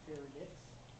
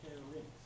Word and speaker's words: pharynx: This is one of the most mispronounced words. It is not pharynx, it is pharynx. Look how it's spelled.